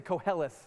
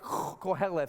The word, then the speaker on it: Koheleth: you got to say it's it's actually an ancient hebrew word so i want you to turn to your neighbor in and say it like this like koheleth because that's how they said it back then koheleth some of